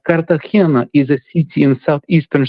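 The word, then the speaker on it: Cartagena: The last name uh like the basketball player Andre Miller, the correct pronunciation is Müller. You understand? So obviously Americans will Americanize the last name. However, it's Kartahena. Kartahena is a city in southeastern Spain.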